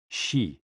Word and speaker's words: xi: associated with the spleen and XI pronounced like she which connects the whole